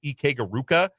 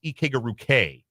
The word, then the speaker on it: Ike-Garuke: We all thought it was Ike-Garuka. It is Ike-Garuke. It is an A sound at the end.